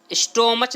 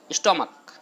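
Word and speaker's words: stomach: स्टोमच नहीं पढ़ते इसको, क्या पढ़ते हैं इसको, स्टोमक। क्या बोलते हैं मेरे प्यारे विद्यार्थियों, स्टोमक, लिखा हुआ लास्ट में सी एच है, लेकिन प्रोनाउंसिएशन जो इसका होता है सी एच का क होता है, स्टोमक।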